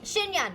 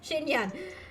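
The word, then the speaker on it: Xinyan: Shin Shinyan. Yes, Shinyan. They're they're the only two girls that start with X and they both have N's and they have that she pronunciation.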